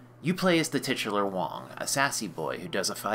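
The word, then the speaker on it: Dragon Wang: Sega's Dragon Wong, and it is pronounced Wong unfortunately, gave Japanese moms of the era the opportunity to say, "We have Spartan X at home."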